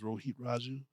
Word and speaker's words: Rohit Raju: Rohit Raju.